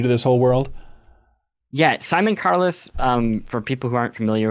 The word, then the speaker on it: Simon Carless: And I know in the past you've cited Simon Carless, is that how you pronounce his name? Yes. As being a big gateway point for you for kind of introducing you to this whole world. Yeah, Simon Carless, for people who aren't